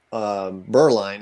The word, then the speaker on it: Bireline: So my last name is Bireline is how you pronounce it. I think I should just take the E out and people would figure that out.